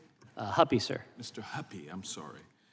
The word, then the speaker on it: Huppe: Huppe? Huppy, sir.